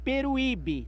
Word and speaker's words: Peruíbe: Eu prefiro que você pronuncie meu nome sem separação de sílabas, entendeu, senhor Jorge? É Peruíbe, tá?